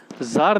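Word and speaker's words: Tsar: इसमें हम क्या देखेंगे, इस समय जो थे ज़ार निकोलस जो थे यहाँ पर, कौन थे? ज़ार निकोलस यहाँ के राजा थे। ठीक है, ज़ार निकोलस यहाँ के राजा थे। टी साइलेंट है, ज़ार निकोलस सेकंड थे यहाँ पे।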